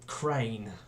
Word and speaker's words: Cran: So yeah, anyway, so the bot I've decided to bring to you today is this guy, Hello Carbot's Cran, or Crane, but I think his name is pronounced Cran.